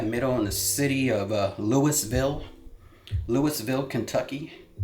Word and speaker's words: Louisville: in the city of Louisville, Kentucky. I say Louisville because I know people get upset about how you actually pronounce it, like you have something stuck in your throat.